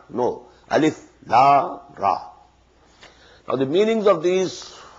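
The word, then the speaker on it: الر: These are pronounced separately, and so they are the broken into pieces. Not pronounced as Alif Lam Mim Alam, no. Alif Lam Mim. Alif Lam Ra Alar, no.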